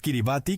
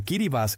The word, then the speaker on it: Kiribati: El país Kiribati, que se pronuncia Kiribas en el idioma micronesio gilbertes, es un archipiélago y